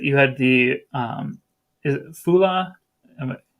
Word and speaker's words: Fula: some similarities that you had the is it Fula? Am I pronouncing that correctly? Fula. Fula.